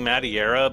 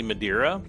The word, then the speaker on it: Madeira: seeing his name wrong I was seeing madiera but it's actually Madeira um well jury one